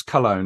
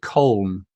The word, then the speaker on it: Köln: Is that how you pronounce Cologne, or is it Köln? Köln. In Germany, you speak it Köln. Köln. It's pronounced in Germany Köln. Yeah, and the foreign people say Cologne.